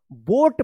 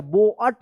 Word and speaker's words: boat: बोट पढ़ेंगे, क्योंकि यहाँ पे ओ ए का ओ उच्चारण हो रहा है, ठीक है ना। तो क्या होगा, बोट, COAT, कोट। इसको कोअट मत पढ़िएगा या बोअट मत नहीं पढ़ना है, क्या पढ़ना है, बोट, कोट।